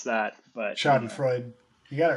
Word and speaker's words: Schadenfreude: How do you pronounce that? But Schadenfreude.